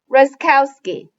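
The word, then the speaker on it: Raskowski: trouble saying my name just remember rus cow razkowski i'm so excited to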